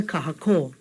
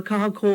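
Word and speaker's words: kahakō: Now, if we didn't have that, it would have been kahako instead of kahako. Is there a difference? Hear the difference? Kahako versus kahako.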